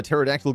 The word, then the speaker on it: pterodactyl: Mike, why can't you hear a pterodactyl going into the bathroom? Because the P is silent.